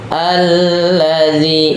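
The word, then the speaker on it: الذي: Alladzi, cara baca ini kalau di awal itu dibaca a.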